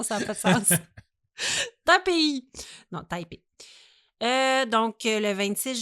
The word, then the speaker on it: Taipei: sont rendus dans la région de la capitale Taipei le 26 janvier 2023 au soir. Ça fait 1 an, mais ça a connu un dénouement il n'y a pas longtemps. Taipei? Oui, excuse-moi. Ouais. J'ai dit Taipei.